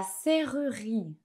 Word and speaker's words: serrurerie: C'est, attention, j'espère que vous êtes prêts, c'est la serrurerie. La serrurerie. La serrurerie. Ce mot, il est vraiment difficile à prononcer.